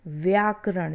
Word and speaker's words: व्याकरण: अब देखिए ब और व से संबंधित अशुद्धियाँ, इसमें किस प्रकार से देखिए अशुद्धि होती है, व्याकरण और व्याकरण, जबकि शुद्ध शब्द क्या है, व्याकरण, जब हम व बोलते हैं व्याकरण।